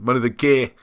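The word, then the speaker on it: Mynydd y Gaer: Let's give it its proper South Wales pronunciation. Money the Gair.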